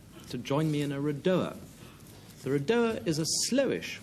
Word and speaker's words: redowa: Redowa. That's how it's pronounced because, as you probably all know, it's a Polish word.